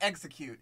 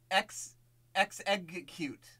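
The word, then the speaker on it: Exeggcute: sorry it's it's sorry it's not execute it's x x egg cute yes i said cute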